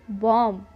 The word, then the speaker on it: bomb: अगर किसी वर्ड में बी एम के बाद आता है तो बी साइलेंट हो जाता है। फॉर एग्ज़ाम्पल BOMB, इसे हम बॉम्ब नहीं बॉम्ब पढ़ते हैं।